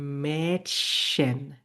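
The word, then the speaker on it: Mädchen: তাহলে আমি এটার উচ্চারণ করবো হচ্ছে মেটশন।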